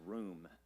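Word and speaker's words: רוּם: This is um the word it's in the Hebrew it's just pronounced room.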